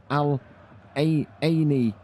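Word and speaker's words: Al Ain: I told you how to pronounce it yesterday. It's Al-Aini.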